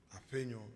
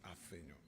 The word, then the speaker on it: Afenyo: MFA decided to pronounce my name the proper and law way. Afenyo, not Afenyo.